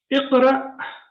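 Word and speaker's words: اقرأ: Iqra. Now here it is sakin. So when Hamza is sakin, we pronounce it with a small jerk.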